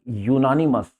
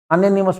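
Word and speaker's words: unanimous: तो देखो ये शब्द है यूनानिमस, अनोनिमस मत पढ़ना है इसको।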